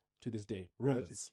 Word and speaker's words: Rombouts: Rombouts.